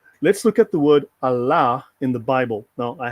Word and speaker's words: Allah: this is Allah right the word is actually pronounced as Muslims do it today Allah pronunciation Allah actually let me go